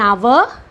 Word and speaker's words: hour: take here see an hour and hour so here h is silent though h is a consonant the letter h is